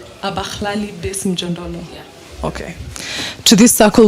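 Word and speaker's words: Abahlali baseMjondolo: Abalali, how to pronounce it? Abakhlali Besimjondolo.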